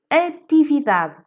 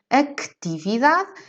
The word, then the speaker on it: atividade: caso por exemplo de atividade par em termos de pronúncia nós não pronunciamos estes e ninguém diz actividad e por esse motivo este se é eliminado e vamos então ao